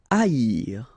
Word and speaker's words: haïr: Haïr. Okay, so keep in mind that here you will pronounce it like I, haïr. First H is not pronounced, okay, so haïr. Haïr.